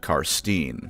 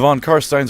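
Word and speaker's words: von Carstein: Although, funnily enough, an old roleplay supplement mentions how it really pisses Manfred off when you pronounce it Karsten. So, in that singular instance, feel free to say it that way. The Von Karststeines are the classical Dracula bloodline.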